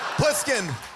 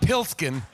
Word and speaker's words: Pliskin: the lead character's name pliskin pliskin not pilskin i said like rumplestiltskin you said well cause